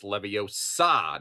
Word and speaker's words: Leviosa: some Potterheads going he said it wrong it's Leviosa not Leviosa and um that's that's fine I'll